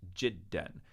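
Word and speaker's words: جدًا: is pronounced N and because of a spelling hangover from Quranic days we have to put an extra silent Aleph there don't worry about this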